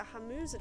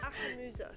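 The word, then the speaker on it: Ahemmusa: Around that time, they were also pushing the Hamuza tribe of the Ashland. So close! Come on! She's stunned silence. How do you say that? Ahamuza.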